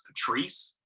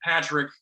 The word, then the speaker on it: Patrick: or something, like, because people say that name pronounces Patrice, and I'm like, and I don't want to like self-identify with that. I'm like, no, it's Patrick, you know.